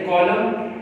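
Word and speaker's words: column: जैसे कॉलम, यहाँ पे N साइलेंट है, यहाँ पे M की प्रोनाउंस अदा नहीं हो रही, N से पहले M हो, तो ये लास्ट पे हो।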